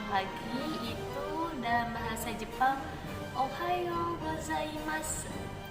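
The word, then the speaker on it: おはようございます: bahasa Jepang Ohayo gozaimasu ditulisnya Ohayo gozaimasu tapi dalam bahasa Jepang dalam pengucapan Bahasa Jepang ujung-ujung kalimat itu tidak diucapkan jadi Hanya dua kalimat atau dua huruf terakhirnya peta diucapkan seperti itu Jadi kalau misalnya dindingnya adamasu ada desu itu hanya Mask deh seperti itu Jadi nggak usah dibaca sampai ujung ya Nah selanjutnya untuk pengucapan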